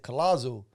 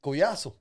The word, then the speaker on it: Collazo: italy maybe you say it in english they pronounce it collazo sound in italian man i can't tell you how many italians are new yorkers oh colossal i'm like hey forget about it but yeah it's collaso crazy but did you know enough about your